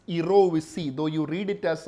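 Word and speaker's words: jirovecii: So see, for pneumocystis erovisi, actually the pronunciation is erovisi, though you read it as a gerovisi, the actual pronunciation is erovisi.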